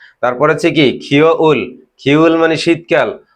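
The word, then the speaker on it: 가을: তাহলে আমরা কোরিয়ান সেটি উচ্চারণ কি হবে, যেটা বসন্তকাল ছিল সেটা কি ফোম, যেটা গ্রীষ্মকাল ছিল সেটা কি ইয়রুম, যেটা শরৎকাল ছিল সেটা কি খাউল, যেটা শীতকাল ছিল সেটা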